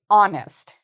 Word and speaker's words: honest: The H is silent. We do not pronounce the H. So instead we actually say honest.